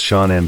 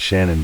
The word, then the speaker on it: Shannon: Pronounced Shaunen by friends and Shannon by her family.